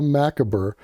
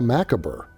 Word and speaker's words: macabre: Hold on, a macabre. Macabre. Macabre. Actually, this one is harder because it's a French word. You're not supposed to pronounce all the letters.